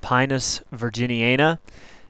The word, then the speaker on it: Pinus virginiana: Virginia pine uh pronounced pinus virginiana it's a member of the pinier family which